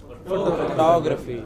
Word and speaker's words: photography: Next word, Photography.